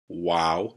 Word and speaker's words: Vav: It's called a Vav, and it has a V sound, but in classical Hebrew, it sounds like a W. So Aleph, Bet, Gimel, Dalet, Hey, Wow.